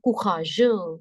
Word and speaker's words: courageux: Okay, vous n'êtes pas courageux. Courageux. Last X is silent.